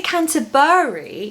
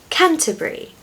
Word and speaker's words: Canterbury: It's brie, like the French cheese. Many place names in the UK that end with B-U-R-Y are pronounced brie at the end. If you say Canterbury, you're adding another syllable